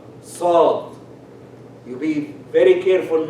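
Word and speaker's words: ص: Because if you soften the sad, it becomes sin. So when you say sad, sabr, it has to be fully pronounced.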